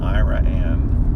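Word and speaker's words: Iraan: I read this is pronounced Ira Ann.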